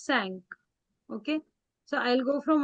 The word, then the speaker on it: cinq: Not sink, it is sank.